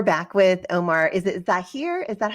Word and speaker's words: Zaheer: come back we're back with Omar is it zah here is that how you say your last name yeah Zahir okay Zahir sorry and and how do you